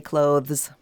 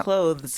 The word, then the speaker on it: clothes: and clothes right oh I happen to say clothes an audible th clothes you are a word